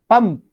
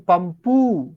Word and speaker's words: pump: Pump, pump. You are closing. Pump. That's it. You are not saying pumpu. Can you say pumpu? No.